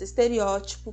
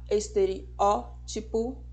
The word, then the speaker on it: estereótipo: falam de estereótipo protótipo E na verdade a pronúncia correta é com acentuação na antepenúltima sílaba esteriótipo protótipo vermífugo tem que